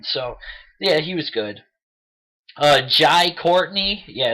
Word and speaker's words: Jai: Jai Courtney, yeah, it's pronounced Jai, plays Jack McClane, actually John Jr., but he's called Jack.